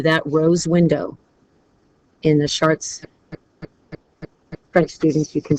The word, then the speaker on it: Chartres: So there is close to 100 square meters worth of length for that rose window in the Chartres. French students, you can pronounce that a lot better than mine.